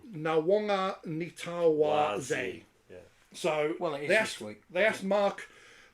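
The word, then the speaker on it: Nawaqanitawase: Nawakanese. Yeah. No, that's wrong. No, it is Nawanga Nitawaze.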